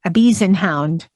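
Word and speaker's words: Ibizan Hound: It even has pronunciation on how to say some of these, like Ibisenhound.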